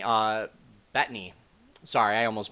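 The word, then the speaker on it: Bettany: really liked it now the acting olson and batney uh betany sorry i almost mispronounced that and everyone else acted like they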